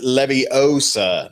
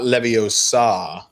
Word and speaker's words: leviosa: gonna go to you it is leviosa not leviosa that is a correct pronunciation um i look forward